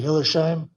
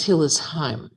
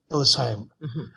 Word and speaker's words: Hillesheim: We have a new member, Hillersheim. Did I say that correct? Pronunciation is Hillesheim. Hillesheim.